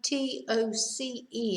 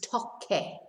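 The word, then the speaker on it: toqué: So, first person, we see, again, for the pronunciation, Because if you had T-O-C-E, it would be toce, because C is the. So to preserve the K sound is toque, toque.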